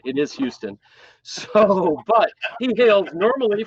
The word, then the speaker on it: Houston: Houston, America.